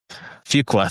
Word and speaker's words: Fuqua: Um I believe this uh I I can't pronounce the director's name. I apologize. Antoine Fuqua. Fuqua.